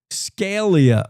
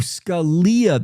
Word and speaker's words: Scalia: Scalia. Oh, I'm pronouncing uh Justice's name wrong. Scalia. Sca. Scalia. Scalia. Scalia. Oh, Scalia. That's right. Now it sounds right.